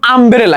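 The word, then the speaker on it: umbrella: ওইখানে বসাইতে পারবা এন যেমন আমব্রেলা ইউ এর উচ্চারণ যখন আর মতো হইতাছে তখন কিন্তু তুমি আবার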